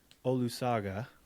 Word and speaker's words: Olusoga: Peter, and I'm going to say this right, Pete, Olusoga.